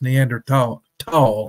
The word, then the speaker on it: Neanderthal: Neanderthal type or and I'm not pronouncing Neanderthal correctly is neander tall I think but I think